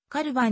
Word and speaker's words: Calvin: カルト呼ばれたなお日本語ではカルヴィンと表記されることが多いが英語の発音はカルヴァンに近いものであるカルビンクランをカルバンクラインとするのと同様身長 5 フィート 10